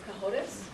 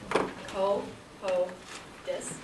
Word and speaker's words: Cahotis: For the judges and the speakers, that's Representative Cahotis, Co-Ho-Dis.